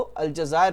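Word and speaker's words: الجزائر: उर्दू में हम इसको अल्जज़ायर प्रोनाउंसिएट करते हैं।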